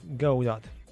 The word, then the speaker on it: Godot: by the way the the proper pronunciation would be go do if you go by